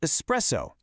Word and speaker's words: espresso: It's pronounced espresso with an S. There's no X in there.